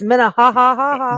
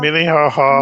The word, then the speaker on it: Minnehaha: I can say Iowa Falls, but I don't know if Yeah, it's Minnehaha. Minnehaha Minnehaha.